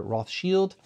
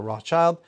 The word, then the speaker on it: Rothschild: de Mouton Rothschild or Roth Shield uh this is the second label of Chateau Mouton Roth Shield or Rothschild however you want to pronounce it they are we call